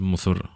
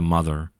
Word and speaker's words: Muthur: Sí, però és que no és Muthur, és pronuncia Mother.